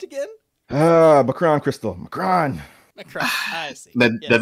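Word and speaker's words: M'Kraan: This would later evolve to their chase of the Emkron crystal. Wait, did you say, oh no. You pronounced it wrong. Shino, how's that word pronounced again? Macron crystal.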